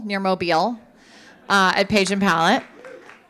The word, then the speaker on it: Mobile: in a town that I know is is pronounced Mobile near Mobile uh at page and Palette and this past